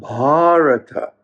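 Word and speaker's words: Bhārata: it's named after him that's why it's called baharata with a long a signif Ying the possessive case so this land is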